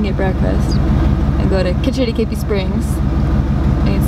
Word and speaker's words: Kitch-iti-kipi: Kitch-iti-kipi, that's it.